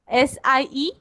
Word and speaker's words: Sie: SIE? या Ma'am, I am asking that what is the pronunciation of 4th, 9th and 10th the same or they are different? It is same. Pronunciation for all is Z.